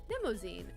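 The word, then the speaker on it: Mnemosyne: Vicky says it's pronounced like limousine, but Nemozine? Okay.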